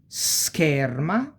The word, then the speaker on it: scherma: We have SC plus H, remember the H that makes no sound but make other sounds change, and here we start to have some examples, plus E and E, like ski and ske, okay?